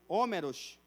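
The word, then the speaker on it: Ὅμηρος: da Grécia Antiga chamado Homero ou homeros como em grego se pronuncia ele usava essa palavra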